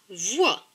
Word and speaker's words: voix: O et I, c'est oua. Donc V et oua, voix.